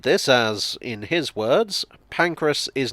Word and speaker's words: Pancras: pronunciation of saint pancras he was certain that it was saint pancreas he was wrong about this i explained that it's named after an actual saint named pancras he disputed this as